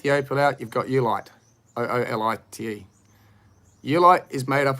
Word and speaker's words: oolite: It's O-O, but it's pronounced U. Ulitic, opal. Let's break that down. Take the opal out, you've got Ulite.